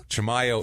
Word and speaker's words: Chimayo: go with AA yes I never guess that chimo is the way you pronounce it because I listen to